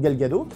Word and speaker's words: Gal Gadot: Au casting du film, nous retrouvons Gal Gadot, il paraît qu'il ne faut pas prononcer le T à la fin, donc Gal Gadot.